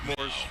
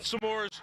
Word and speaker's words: s'mores: It's pronounced s'mores. Fan headlines powered by Bowser Genesis of Monroville. Not samores.